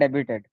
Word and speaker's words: debut: Debut and debuted. Oh, you pronounce debut what? debuted debuted Yeah, debut and debuted. Oh, but the the present tense you Do you pronounce the T? Debut, no. Not the T.